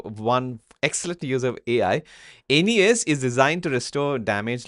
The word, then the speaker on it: Aeneas: Meet Aenas. Is that right pronunciation, Tony? Aenas? I don't speak Latin. I think it's Aeneas. Aeneas.